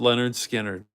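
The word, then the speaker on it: Lynyrd Skynyrd: a great album 1979 pronounced Leonard skinnard yeah idiom with the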